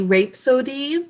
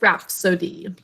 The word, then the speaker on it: rhapsody: its name um well if it was saying its name it would be rape sodium but it's rap sodium the first sounding i